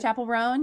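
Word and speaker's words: Chappell Roan: Is it Chapel Ran?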